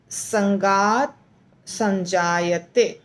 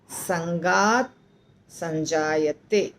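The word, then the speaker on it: सङ्गात्सञ्जायते: बो आसान होगा संगत संगत में त आधा है ध्यान रखिए त आधा है यानी संगत संगत संजत संगत संजत लगता है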